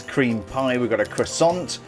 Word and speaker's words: croissant: pie we got a croissant yeah that's how we pronounce it croissant not oh no no no that's how the Americans pronounce it uh it's Quant not croissant anyway I set my